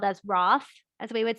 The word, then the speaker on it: Roth: So his last name could be spelled as Roth, as we would say in English today. But remember that H is silent, the one wasted letter.